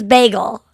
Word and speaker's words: bagel: weird oh my god it's bagel that's me as a new yorker that's how i say b-a-y-g-u-l megal bagel um that's